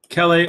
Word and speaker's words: chelae: so you guys know, when we have the term chelae or chelipeds here, CH is always that K sound.